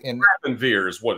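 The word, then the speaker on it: Grafenwöhr: And Grafenwehr is what it's called. That is, yeah, okay. And but it's spelled, it looks like Grafenauer, but they pronounce it Grafenwehr.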